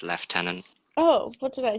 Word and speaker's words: Lieutenant: it if you could pronounce our stolen French word in the way we British like to say it the 2 the 21th the 21st under the name say it again left tenant leftenant Colonel Neville Heath although